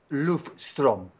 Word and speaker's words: Løvstrøm: ¿Y cómo se pronuncia tu apellido? Løvstrøm.